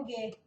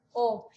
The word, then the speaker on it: og: O a gente não pronuncia o g, fica o. Existem lugares que falam Og, mas não é normal em ózulo, na capital da Noruega, eles falam o meretin tarostin.